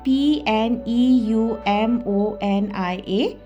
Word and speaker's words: pneumonia: A we are given p n e u m o n i a now here just remember the p is silent okay the p silent